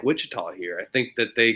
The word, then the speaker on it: Wichita: We don't spell it with the T, and we don't use a T. It's Wichita.